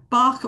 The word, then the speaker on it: Bach: So you're talking about Bach or Bach flower remedies. It gets pronounced both ways, yeah?